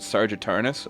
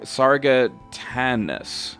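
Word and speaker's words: Sargatanas: I've always pronounced it Saratarnis when it's Sar Saratanis. It's it's Saratanis.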